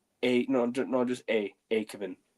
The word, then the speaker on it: Aekavin: Also, if you if people are wondering how you pronounce my name, it's a Kevin. So, no. No. A Kevin. A Kevin. Pretty much.